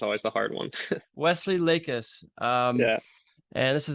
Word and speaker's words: Lakis: last name is always the hard one Wesley lakis um yeah and this is the Eric Swan